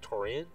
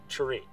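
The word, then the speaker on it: Turenne: The Tourian, is that how it's pronounced? Tourian? Tureen.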